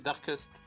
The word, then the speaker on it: Darkest: C'est pas Darkness Nightmare? Non, bah tu le prononces mal en tout cas. Non, c'est Darkest.